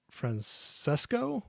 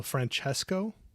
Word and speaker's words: Francesco: so Liv is asking is it pronounced Francesco or Franchesco oh maybe that's what I was doing wrong well there we go LOLOL chesco yeah oh so Franchesco hopefully that's right I'm not doing it